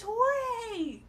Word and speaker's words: Jorge: It looks like George with a J, but your name is Jorge.